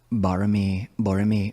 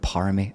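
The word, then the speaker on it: pāramī: Yeah, so the Buddha's Barami, that's a Thai pronunciation of the word parami, which means perfection or strength.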